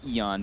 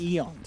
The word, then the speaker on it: Aeon: No Aeon discs. Or, sorry, Eon discs. Eon. Eon. Can we get the pronunciation correct?